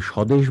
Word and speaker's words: স্বদেশ: করার জন্য আমি বললাম বফলা এবং মফলা যদি শব্দের শুরুতে থাকে তাহলে কোনো কনফিউশনের কিছু নেই, যে বর্ণের সাথে যুক্ত হয়েছে সেই বর্ণটি সরাসরি উচ্চারিত হবে, বফলা বা মফলার কারণে উচ্চারণের কোনো পরিবর্তন ঘটবে না।